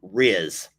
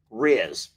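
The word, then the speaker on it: rizz: will get this, Lex has a lot of riz. Riz. Do y'all know what the heck I'm saying? I don't even know how he spells it. But this is what Lex has. Riz.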